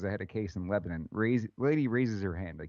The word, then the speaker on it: Lebanon: uh lebanon okay and that's how you say it too it's lebanon it's not lebanon oh yeah yeah i